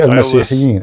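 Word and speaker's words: المسيحيين: But it's best to say Al-Masihiyyin.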